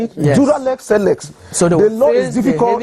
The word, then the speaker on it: dura lex sed lex: Dura lex sed lex.